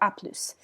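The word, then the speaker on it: à plus: told you that um typically s's at the ends of words are not pronounced in this case with the phrase that's an exception to the rule so french is a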